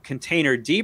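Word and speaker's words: containerd: you can run that container d program without docker it doesn't have as many features uh it's it's spelled container with a d on the end that's actually how it's pronounced um yeah and you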